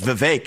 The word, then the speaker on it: Vivek: If I say my name's Vivek, it rhymes with cake.